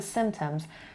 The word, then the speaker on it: symptoms: Or what are the symptoms؟ دقت کنیم بچه این لغت رو. Symptom جمعش میشه symptoms. نمیگم symptoms. خب پیش تلفظ نمیشه.